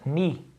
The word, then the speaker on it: knee: Por isso que o K, na palavra knee, meu joelho, não se pronuncia.